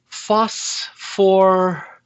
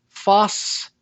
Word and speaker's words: phosphide: Try pronouncing it and see if it works in English. Phosphoride? Phosphoride? It's a little wordy. Let's try taking off even more. Phosphide?